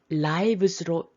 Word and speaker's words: lives: 여기 lives로 발음해 주셔야 돼요. life 명사의 복수거든요.